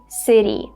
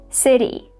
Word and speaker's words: city: As you can see, this T sound is a flap sound. So we have to say, city not city. City.